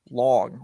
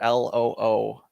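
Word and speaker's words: 龙: And in fact, this particular dragon's name is pronounced Long, or Loong, and is known in Chinese culture or philosophy for bringing wealth and prosperity.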